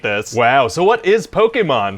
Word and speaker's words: Pokémon: your email said this was gonna be about put chemin what is that well it's pronounced Pokemon oh okay and what the heck is that